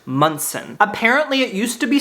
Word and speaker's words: Monson: slight Goosebumps right now my name is spelled m o n s o n but it is pronounced mson apparently it used to